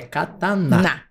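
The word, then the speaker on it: katana: é ficar tá isso a gente ó a pronúncia certa de da espada japonesa é catar na Esse é isso aí e essa é a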